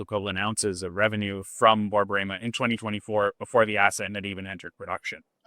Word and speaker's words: Borborema: And how do I pronounce Borborema? Borborema.